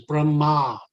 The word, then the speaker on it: Brahma: Then there's Brahma, who is the creator, Chaturmukh, four-headed Brahma. And So Brahman, the accent there is with a long A at the end, Brahma.